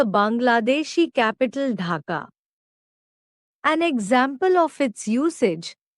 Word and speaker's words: ढाका: It sounds like a breath ड इन the word data और the sound of ढ इन the name of the Bangladeshi capital ढाका।